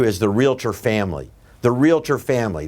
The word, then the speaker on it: realtor: the realtor family the realtor family that's realtor two syllables real tor r-e-a-l-t-o-r it's a registered mark and